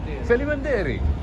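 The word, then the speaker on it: faleminderit: Felimanderi. Just like Albanian, same thing. Yeah, same language. Oh, because you guys, same 90% of Kosovo is Albanian. That makes sense. Felimanderi.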